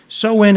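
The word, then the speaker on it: Samhain: Celtic Festival of sowin sowin is actually spelled Sam Hayne sa MH a i n but it's pronounced soen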